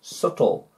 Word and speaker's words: subtle: before t doubt really no no way and subtle before t subtle subtle to be sneaky sneaky